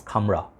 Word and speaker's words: Khamrah: This is Khamrah, okay. Some of the Western reviewers, they do not know how to like pronounce it. It sounds like Khamrah, sounds like camera.